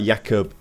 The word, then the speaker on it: Jakubko: Oh, it's pronounced like Jakubko. Oh, Jakub.